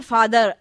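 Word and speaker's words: father: है फादर शब्द है तो अंग्रेजी में फादर के रा नहीं आता बल्कि फादर आखिर में अ जैसा जाता है अब एक और भी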